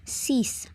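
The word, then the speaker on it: six: as in English but the pronunciation is cease and the 16 is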